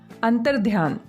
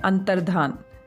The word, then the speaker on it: अंतर्धान: अंतर्ध्यान, गलत उच्चारण की वजह से इसी प्रकार से हम इसे लिखते हैं, लेकिन शुद्ध शब्द होता है अंतर्धान।